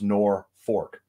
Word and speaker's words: Norfolk: is how it's spelled it's pronounced nor fork the reason being is